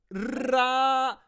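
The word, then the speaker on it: Raúl: You can roll your R's. I'm Raul. Yeah. Well, you have to finish it. Continue. Raul. Raul. L in the end.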